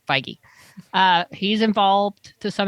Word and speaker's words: Feige: to say it because who knows how to say kevin feige but now we know feige uh he's involved to